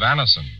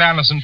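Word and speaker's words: Anacin: This program is brought to you by the makers of Anison, the remarkable tablets that bring incredibly fast relief from the pains of a headache, neuritis, or neuralgia.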